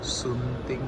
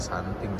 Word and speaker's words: Sunting: Sunting Melayu. Oh, sunting ya, bukan santing.